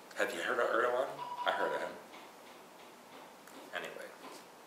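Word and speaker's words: Erdoğan: but I found that I've been Mis pronouncing his name no it is it cuz it's a little Loop over the G it's a w so his name is oh erdan yeah Eran have you heard of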